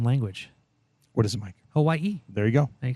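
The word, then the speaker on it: Hawaiʻi: To practice pronouncing the Okina, say the word uh-oh. That break between the syllables when you clear your throat is the same kind of break you'll insert when you see the Okina.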